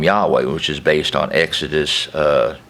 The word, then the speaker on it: Yahweh: debates on for example how to say the name of our Father I personally call him Yahweh which is based on